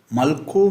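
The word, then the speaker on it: ܡܠܟܝ: Malko means king. Malk with yod. Malk. It is pronounced as malk, but there is a yod at the end.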